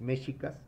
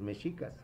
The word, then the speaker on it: mexicas: Recuerda que cambia mucho el acento español y el acento náhuatl. Por eso a veces se pronuncia como los mexicas o los mexicas. Los mexicas, acento español, los mexicas, acento náhuatl.